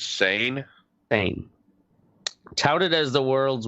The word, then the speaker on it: Seine: How is it pronounced? I do believe it's Seine.